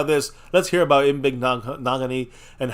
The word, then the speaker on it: Igbinoghene: Noah Igbinoghene. I'm doing my best to say his name, guys. It rhymes with mahogany. So, Igbinoghene.